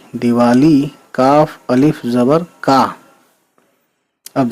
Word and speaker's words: دیوالی: دال زیر دی، واو الف زبر وا، دیوا، لام چھوٹی لی، دیوالی.